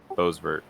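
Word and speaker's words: Boisvert: The 47, William Bovert. Is that how you say it? And Jared is back on the lead lap, too. Bosvert. That's how you say his name.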